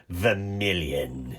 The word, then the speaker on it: vermilion: like a french vermilion vermilion so you have to say it like a villain the million how dare you so